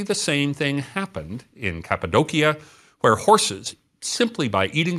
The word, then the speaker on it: Cappadocia: This is in a region called Capidokia or Capidoshia as it said if you angllicize it and every ci is pronounced sh.